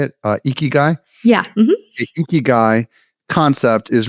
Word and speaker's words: ikigai: Ikigai?